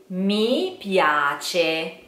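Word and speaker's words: mi piace: Caro you try okay me piace you try me me piace okay let's divide in syllables which may help a little bit me yah-tchi this C is like check check check same cheap okay so me piace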